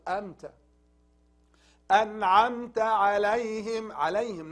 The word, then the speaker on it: عليهم: عليهم also, not عليهم. عليهم is wrong. It's from throat. عليهم.